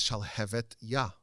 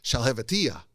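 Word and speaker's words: שלהבתיה: people mispronounce the name the name of the book is shall have ya shall have which means the the flame of God and everyone mispronounce it it's sh have which means nothing which is just gibberish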